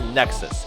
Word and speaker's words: Nexus: Nexus challenge I know I called it nus before I think it's called I think it's pronounced Nexus anyways all right guys